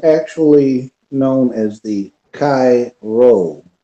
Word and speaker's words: Rho: known as the Chi roll the X is Chi in Greek and the P is pronounced ro Cairo which was the